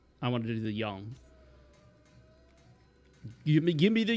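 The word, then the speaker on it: 阳: The yang position and the yin position, which I think the yang is actually pronounced yang. Yong. Yong.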